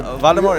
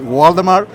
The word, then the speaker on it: Waldemar: Waldemar? It's a strange name. Usually in my country, I born in Uruguay, is Waldemar. But when you go to Europe, the people say Waldemar. Waldemar.